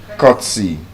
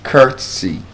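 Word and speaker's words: courtesy: Cutsy. Well, it's not cutsy or curtsesy. It's curtsy. Longer sound.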